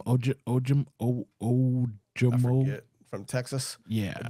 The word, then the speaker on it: Ojomo: Ojomo.